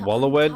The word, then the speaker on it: Waloed: Yet warlike Waloed shows not the faintest interest in laying claim It's pronounced to Wallowed.